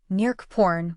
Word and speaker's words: Neak Pean: Neak Pean should be pronounced more like Neak Poun with an open O or a diphthong OA in the second word.